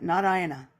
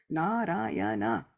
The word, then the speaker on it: Narayana: Srila Vishwanath Thakur Thakur says that Narayana has 4 syllables, Narayana.